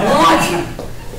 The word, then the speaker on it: Golgi: So the vesicle is coming from Golgi. Do you know what's Golgi? Oh shoot. Oh, gold. Oh, you read it as Golgi. What do you pronounce? Golgi? Yes. That's Chinese medicine. It's Golgi.